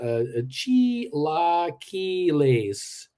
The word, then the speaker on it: chilaquiles: JR, the word is pronounced chilaquiles.